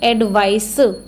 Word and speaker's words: advice: इट इज़ एडवाइस, ये क्या है? सा। एडवाइस, ये क्या है? एडवाइज, ये क्या है? जा।